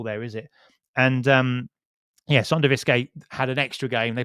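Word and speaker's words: Sønderjyske: The last few times I pronounced SonderjyskE, I got it wrong. I used to say SonderjyskE, and he correct.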